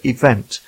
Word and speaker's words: Evvnt: And that brings me to today's guest, who is Richard Green, and he's the founder of Event. That's spelled EVVNT.